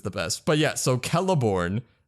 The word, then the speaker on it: Celeborn: best but yeah so keleborn is with a k that's well that was okay but like it's the sound of a k okay and then moving